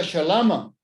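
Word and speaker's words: שלמא: Por eso muchas palabras en arameo, como la palabra saludo o paz, es más popularmente conocida como paz, shalom, en arameo se pronuncia shalama.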